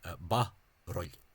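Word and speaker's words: barúil: Ba-roil. Or baroil. 2 syllables with the shortening of the U, which you tend to what's called Outer Ulster and Inner Ulster.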